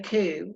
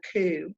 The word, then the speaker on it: coup: there would be a coup when there's an overtaking of the government is called a coup and that is co u P but the P is silent alright the next one